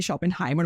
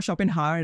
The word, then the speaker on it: Schopenhauer: और Arthur शोपेनहायर सर यही, sorry for my pronunciation, actually शोपेनहाइमर में वो कभी कभी बोल देता हूँ, शोपेनहायर है वो एक्चुअली, तो वो, लेकिन आर्थर